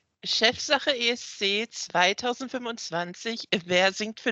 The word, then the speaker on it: Chefsache: So the German national final, which is pronounced Chefsache ESC 2025.